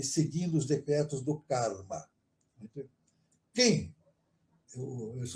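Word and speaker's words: Khem: Quem? Esse é o nome, né? Quem? Se escreve assim, K-H-E-M, quem?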